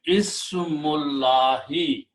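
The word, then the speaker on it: اسم الله: and then we do not pronounce this alif in the middle, so it becomes hamzatul wasl. Now the combination will be ismullahi.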